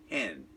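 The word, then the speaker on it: חֵן: There is a word there that we translate favor, that in Hebrew is pronounced like we pronounce the word that describes a female chicken, hen, H-E-N.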